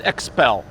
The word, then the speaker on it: Xpel: Well, let me tell you, the best company in the industry for paint protection film, hands down, is Xpel. That is spelled X-P-E-L.